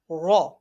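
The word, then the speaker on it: ر: Raw is pronounced from the edge and the top part of tongue touching the gums of top for front teeth. Okay, got it? And this letter is pronounced in thicker voice.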